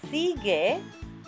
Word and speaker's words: sigue: La jirafa, jirafa, sigue, without the U pronounced, al cangrejo.